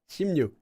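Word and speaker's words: 십육: Anytime you have ship together, it gets pronounced as this. And you need to know this because if you say she it sounds messed up. It sounds honestly kind of sounds like you're swearing.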